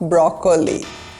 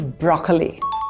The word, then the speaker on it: broccoli: This is not broccoli. This is broccoli. There is no second O sound, just broccoli. The emphasis is on the first syllable, broccoli.